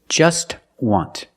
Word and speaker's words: just: be rich another example just want we see that tea is between consonants so it's silent link The Sounds together